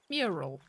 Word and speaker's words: mural: Mural. Mural. Mural's only 2 syllables.